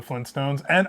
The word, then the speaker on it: Flintstones: So I can't say enough good things about the Flintstones.